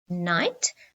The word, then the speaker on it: knight: climb the silent k remember the silent k after the sun and k we always have a n or a n so let's have a look we've got knee knit i knit a jersey knight so the knight in